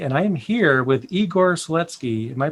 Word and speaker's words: Igor Seletskiy: learn linux tv and i am here with igor sletsky am i pronouncing that correctly yes thank you awesome to